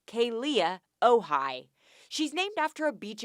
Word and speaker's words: Kealia Ohai: Number 1, her name is pronounced Kealia Ohai.